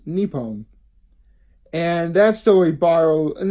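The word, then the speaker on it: Nippon: actually takes place in Japan or as it's pronounced in japanese new poem and that story borrow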